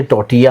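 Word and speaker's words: tortilla: इसको लिखते टोटिला है लेकिन बोते टोटिया है।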